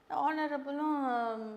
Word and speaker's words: honorable: இந்த வார்த்தை HONOUR, அப்புறம் honest HONEST, இதுக்கெல்லாம் வந்து H வந்து சைலண்ட்.